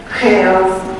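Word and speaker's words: Xals: Chaos, I'll spell that out for you, it's capital X-A-L-S.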